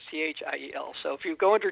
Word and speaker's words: Thiel: Yes, we've had people call up information to try to find me before, and they think it's because it's pronounced teal like the color. Right. So no one knows it's Thiel.